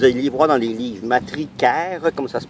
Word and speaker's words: matricaire: Ça ici, c'est de la matricaire.